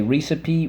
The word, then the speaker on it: recipe: okay so let's go first syllable wrath second syllable sip third syllable P recipe alright so we have two things to mark up let's go we don't say recipe we say recipe first sound on the line the e the e can say e at the end of a syllable that is rule 4